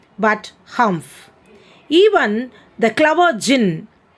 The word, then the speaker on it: jinn: humph even the clever jinn it should not be pronounced as djinn it should be pronounced as jin only children so even